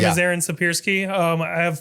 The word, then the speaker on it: Siepierski: Is it Siepierski? Siepierski.